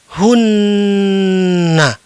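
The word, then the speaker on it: هن: Selanjutnya, ada teks seperti ini, ada sebuah kalimat, ada kata ha dan nun. Kemudian dibaca "hunna".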